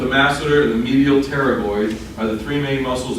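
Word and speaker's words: pterygoid: a lot in medicine if you see a p followed by another consonant the p is silent so the temporalis muscle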